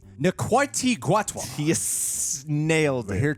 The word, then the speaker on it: Ncuti Gatwa: this doctor play by the correct pronunciation is NTI guat he nailed it we're